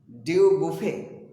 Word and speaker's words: Dubuffet: इनको प्रेरणा मिली थी, there was a French painter Jean Dubuffet, बुफेट लिखा है लेकिन बुफे पढ़ते हैं, T is silent here.